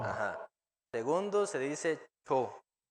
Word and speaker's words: 초: Segundos se dice cho.